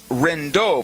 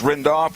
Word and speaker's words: Renov: The other one I want to tell you about is Chris Renov. I mentioned in the first segment that it's Renov. No, his pronunciation to his last name is Renov and he wears the